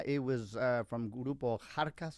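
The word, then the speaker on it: Xarkas: was uh from gurupo kharkas spelled with an x x j a r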